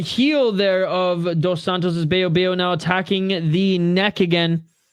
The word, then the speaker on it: Baillot: that NE was close it's boo right I mean that's how you pronounce it in French beo oh yeah there there's